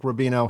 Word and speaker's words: Rubino: And then you said, well, actually it's Rubino.